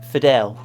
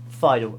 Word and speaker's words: Fidel: it everything i've got sorry fidel not fido as i pronounced it and obviously we've got